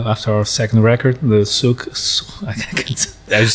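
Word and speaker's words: Souq: So the Q represents the letter Qaf. So it's Okay. with the it's guttural. There's K and there's Suk. So after 15 years, I finally know how to Suk.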